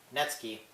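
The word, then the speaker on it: netsuke: include suji shiki netsuki yes the n-e-t-s-u-k-e is pronounced natsuki and ryukyu another thing is with the a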